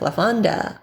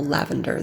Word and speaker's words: lavender: My personal favorites are things like lavender, or lavender, that's how you pronounce it in English-speaking world.